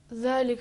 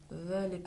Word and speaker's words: ذلك: अब दूसरा हर्फ ज़ाल था। हर्फ ज़ाल में भी जब छोटा बच्चा बातें करता है तो तोतली ज़बान में नरम लहजे में बात करता है। इसी अंदाज में ہمیں حرف ذال کو تلفظ کرنا ہے.